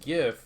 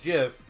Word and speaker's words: GIF: The correct which is to use the hard G, just like me, because graphical is a hard G. Yeah. The right way is GIF because it feels right.